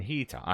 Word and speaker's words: Nahida: Nahida, okay, I did say it right.